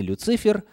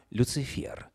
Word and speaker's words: Люцифер: приходилось встречать слова люцифер кстати согласно орфографическом у словарь ударений нужно ставить именно на последний слог не люцифер а люцифер так вот это слово